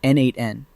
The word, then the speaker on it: n8n: Meanwhile, n8n, pronounced n8n, has been around since 2019.